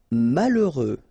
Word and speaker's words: malheureux: Malheureux. H doesn't exist, okay, so you get mal, heureux. Final X not pronounced. Malheureux.